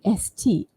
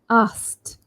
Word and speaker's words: asked: So for some of us, it might be very difficult to move from sk and then t. You can actually omit k altogether and just think ast, asked, asked.